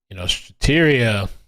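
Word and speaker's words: Strattera: It's not going to be like, Strateria, that's how you say it, is a non-narcotic, non-stimulant medication.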